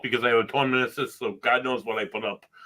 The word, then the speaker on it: meniscus: Meniscus. Yeah. Rhymes with kiss.